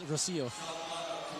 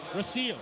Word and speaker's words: Rocio: Nico, I think you pronounce it as Rocio. Rocio.